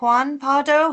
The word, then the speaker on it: Juan Pardo: I'll go to is it Juan Pardo? Have I said pronounced your name right? Yeah that's correct.